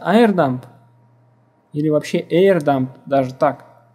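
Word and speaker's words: airodump: Название сети, по какому каналу, шифрование ключа, мы должны запустить AeroDump для того, чтобы взять MAC-адрес от той сети, в которой будем ломать. Не произносится Aero. Это О, она не читается. AirDump.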